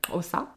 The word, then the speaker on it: Xhosa: En 7 ans, j'ai pas réussi à le dire correctement et avec un accent, mais c'est le Xhosa. Oh, Xhosa. Ouais. Avec les claquements de langue.